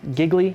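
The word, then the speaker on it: Gigli: guy Affleck plays here giggly pronounce it rhymes with really right he's a very offbeat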